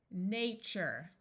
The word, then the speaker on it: nature: Even though this is spelled T-U-R-E, it sounds like CHER because the sound TURE is hard to say. So this is CHER, CHER. This U will be long. Future, nature, vulture, texture, capture, fixture, culture.